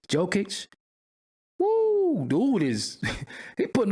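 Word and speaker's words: Jokić: you pronounce his name joke joke you know they always got a CH and they should be a c but jokic whoa dude is he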